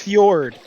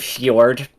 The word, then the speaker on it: Fjord: Fjord.